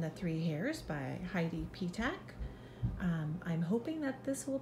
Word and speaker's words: Petach: Yes, I did, and my name is not weird. It's pronounced P-Tack. Well, ladies and gentlemen, I hope that you have enjoyed Goldilocks and the Three Hares by Heidi P-Tack.